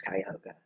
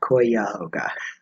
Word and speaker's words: Cuyahoga: knows how to pronounce Cuyahoga it's Cuyahoga not koi Yaga well the other the